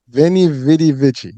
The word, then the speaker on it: veni, vidi, vici: So VENI, VIDI, VICI.